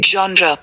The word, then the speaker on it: genre: पे वीडियोस देखे हैं जो लिटरली इसको जेनर कहते हैं, जो कि एक गलत वर्ड है। जैसे कि ये एक फ्रेंच वर्ड है तो इसको हम प्रोनाउंस करते हैं genre, जॉनर भी गलत नहीं है, लेकिन जेनरी तो बिल्कुल भी नहीं कहते हैं।